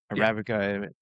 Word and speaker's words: Arabica: Arabica.